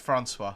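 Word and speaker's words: François: Oh dear, it's pronounced Francois.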